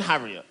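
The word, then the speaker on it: Harriott: I'm on now my name right is Darren heavier and heavier is spelled H a double r io TT it's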